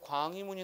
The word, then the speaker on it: 광희문: 자, 예를 들어서 우리 예문에 광희문이 나왔죠. 광희문. 그럼 당연히 자음이 첫 소리에 있으니까 얘는 발음이 희로 난단 말이야.